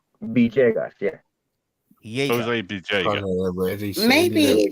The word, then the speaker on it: Villegas: Villegas. Villegas. Yeah. Jaeger. Jose Bijega. Maybe it's the way of pronouncing it.